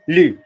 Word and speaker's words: lu: How do you say TU? Nice. Yeah. How do you say I've read? As in I have read a book. J'ai. Nice. Not you, lu.